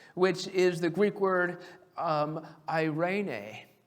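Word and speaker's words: εἰρήνη: is the Greek word eirene. Now, it's spelled E-I-R-E-N-E. But I have a terrible time with pronunciation. So I literally have the word I, then the word rain, and then the letter A to make sure I can pronounce it correctly.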